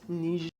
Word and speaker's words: Niger: It's pronounced Niger.